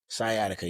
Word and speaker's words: sciatica: Sciatica.